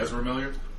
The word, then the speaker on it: Ezra Miller: Ezra Ezra Miller.